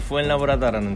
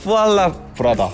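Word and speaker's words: Fuenlabrada: 저는 현재 스페인 프로축구팀 FC 푸엔라브라다라는 팀에서 코칭 스태프 및 전력 분석관으로 일하고 있는 안승현이라고 합니다. 반갑습니다. 푸알라브라다.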